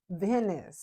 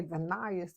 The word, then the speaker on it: Venice: your name sir venis Venice so I say venas and it's Venice Venice I have a friend